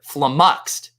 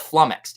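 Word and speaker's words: flummoxed: world series draft and i said the word flamuxed instead of flumex and i got roasted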